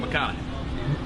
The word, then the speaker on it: McConaughey: I mean Mcconaughey. but I feel like that doesn't roll off the tongue. That rhymes with what would Madonna say?